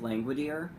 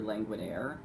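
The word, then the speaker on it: Langwidere: pronounced it looks like languid ear um and by modern pronunciation it probably is languid ear but it's actually languid a as in a languid air M loves his oral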